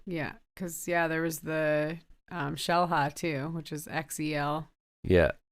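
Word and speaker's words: Xel-Há: Yeah, because all the X's are sh sounds, right?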